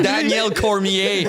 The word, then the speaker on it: Cormier: Daniel Cormier. Même si c'est un nom francophone, on le prononce en anglais, man.